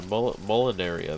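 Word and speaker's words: Molineria: Yeah, Molinaria, that's how you pronounce it.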